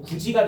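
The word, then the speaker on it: 굳이: 9가 아니고 구지지. 디귿받침이 지으로 바뀌어 가지고 구지가 된 거죠.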